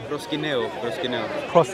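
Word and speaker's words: προσκυνέω: Proskineo. The U becomes an I.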